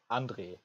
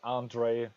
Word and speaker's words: Andre: your name again well the authentic pronunciation is angry but I also like I also like your pronunciation like Andre this is ok for me laundry uh-huh and how